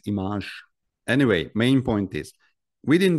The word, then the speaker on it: IMAGE: And of course, just on a side note, whoever worked in this project knows that the correct pronunciation is IMAGE.